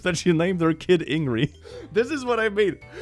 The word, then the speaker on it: Ingrid: In my country, a common name is Ingrid, and the D is silent. Ingri? Ingri. Okay, here it's pronounced like Ingrid, the whole thing.